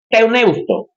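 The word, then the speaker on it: theopneustos: Teoneusto se escribe T-H-E-O-P-N-E-U-S-T-O-S, teoneusto. El término teoneusto es un término compuesto. Teos, Dios. Neusto, porque la P es muda, respirar.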